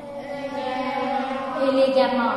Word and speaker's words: élégamment: Élégamment. Mais ça s'écrit avec un E et non pas un A.